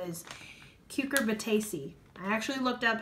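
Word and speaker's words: Cucurbitaceae: the gourd family is like official name is Q Corbett AC I actually looked up how to pronounce it and that's actually how you pronounce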